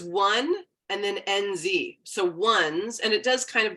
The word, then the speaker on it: WUNZ: So I'm like, it's WUNZ, it's not onesie, it's WUNZ.